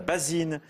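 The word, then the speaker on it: baesine: la baésine, mais alors ça s'écrit bizarrement B-A-E-S-I-N-E, mais ça se prononce la basine en Belgique. C'est la patronne du café, de l'estaminet. Ah, c'est la Ah ouais. basine. Et ça doit être un mot d'origine flamande parce que c'est Oui. prononcé en fait B-A-E-S, mais ça se prononce base.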